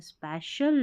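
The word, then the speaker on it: special: on this, next क्या है यहाँ से, ऑन दिस स्पै, अब इसको स्पी नहीं पढ़ना है, स्पै और CIAL को शल करके पढ़ते हैं, स्पेशल डे, यानी कि इस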